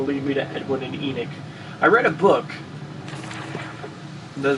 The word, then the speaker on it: Enoch: earth if it'll lead me to Edwin and Enoch. I read a book. The reason I know it's pronounced Enoch is I read a book and it was spelt the same way, and his name was pronounced Enoch in the audiobook.